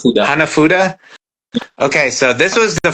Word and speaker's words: hanafuda: How do you pronounce it? Hufan? Hanafuda.